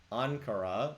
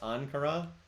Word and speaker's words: Ankara: Ankara, it's pronounced Ankara?